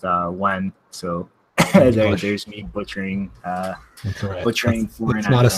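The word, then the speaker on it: Nguyen: I think Neugen, as I said, is pronounced Wen.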